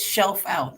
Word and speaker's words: Schelfhout: what's your last name sounds like it's shelf out like pull the shell out chill yes how's your